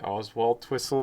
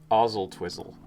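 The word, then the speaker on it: Oswaldtwistle: pronounce the last one i would say oswald twistle but that's probably wrong because it's never how it looks ozil twizzle ozil twizzle really what do you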